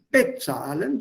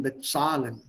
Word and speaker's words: bezahlen: Das ist nicht bezahlen, sondern bezahlen, bezahlen, entscheiden, erzählen.